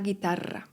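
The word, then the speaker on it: guitarra: La gitarra gitara. Podwójne r, czyli rooble jest wymawiane bardzo wyraźnie.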